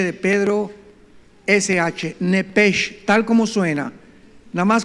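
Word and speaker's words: נפש: de Nancy Eden Enrique p de Pedro sh nepege tal como suena nada más que la ch en el hebreo se pronuncia como J se pronuncia nepeg como jota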